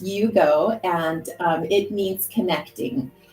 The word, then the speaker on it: Iugo: yeah right it yes it's so it is pronounced Yugo and um it means connecting connecting um just